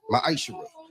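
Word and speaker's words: מעשר: You can find this in the book of numbers 18:21 in the book of Malachi 3 8-10 means 10th in Hebrew and it's pronounced maisha 10% of every penny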